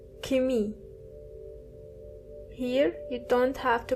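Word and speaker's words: Chemie: Chemistry is kimi. Kimmy. Here you don't have to pronounce the ch as biology is bi pogi.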